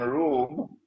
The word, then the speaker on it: Rum: It is pronounced as R-O-O-M, Rome, but the Arabic word Rome is, it describes Eastern Christianity.